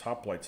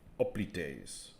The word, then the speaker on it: hoplites: point and he said you could pronounce it however you want in greek but we're not speaking greek we're speaking english so the english pronunciation is such and such you know they said it with hoplites you know it's hoplites in english even though it might be oblites in greek and that's a good